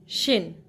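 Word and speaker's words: 쉰: मुश्किल बात रही होगी सो 50 इट्स शिन एस डब्लू आई एन जो डब् है व जज की साट देगा सो इट्स शिन एस डब्लू आई एन शिन 51 शिन हना 52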